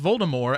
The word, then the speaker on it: Voldemort: harry potter series baltimore voldemort yeah without t yes she announced at one point that it's actually pronounced voldemort as in like the french way to say it it literally means death